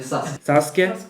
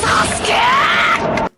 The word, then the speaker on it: Sasuke: non gli accenti, la pronuncia, nel senso che tendono a non pronunciare molto la U e la I. Infatti è Sasuke. Sasuke.